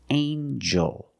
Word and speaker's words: angel: jump and Juice together with the n a regular n Sound not the nasal but the regular n anel angel angel this is an angel let's practice is this